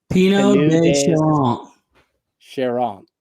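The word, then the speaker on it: Pineau des Charentes: And how do you pronounce that? Pinot de Charente.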